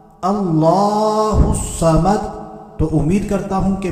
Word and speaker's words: اللہ الصمد: کامیاب ہو سکیں۔ تو ہم نے پڑھنا ہے اللہ الصمد، ایک مرتبہ پھر سن لیتے ہیں، اللہ الصمد، اللہ الصمد، اللہ الصمد۔ تو امید کرتا ہوں کہ میں نے پوری